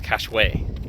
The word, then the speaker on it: Cashwise: Next place, for what it's worth, I think I keep mispronouncing the name technically anyway cuz technically it's cashway.